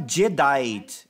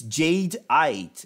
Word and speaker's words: Jadeite: It's not even how we pronounce it. It's not Jadeite. It's not Jadeite. It's Jadeite. It's Jadeite. Yeah. Yeah. It's like Jade.